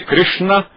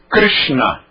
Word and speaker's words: Krishna: Mas e o R vogal? O R vogal é complicado. E o nome de Krishna tem 3 probleminhas aqui, olha, porque são 3 letras diferentes. Por isso é que as pessoas grafam e pronunciam Krishna. Se você disser Krishna já está muito bom.